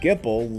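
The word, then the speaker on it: Gippal: machines an albed named gipple leads the group gamble rhymes with an apple spear Hunters adventurers of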